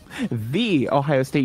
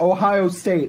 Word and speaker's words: The Ohio State: the ohio state university which is apparently how you're supposed to pronounce it oh it's not ohio state it's the ohio state whenever i say the ohio state peoples get so persnickety about it it's it's like